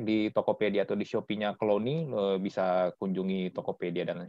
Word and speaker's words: Clouwny: C-L-O-U-W-N-Y ya, bacanya Clowny.